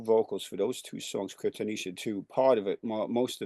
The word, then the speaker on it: Cryptomnesia: actually pronounced Cryptomnesia. Cryptomnesia.